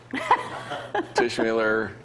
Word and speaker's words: Teichmiller: Typewriter, popsicle, Teichmiller.